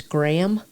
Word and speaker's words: Graham: So I'm just kind of smiling cuz I learned it that it's Graham and I noticed my husband slightly pronounces that H.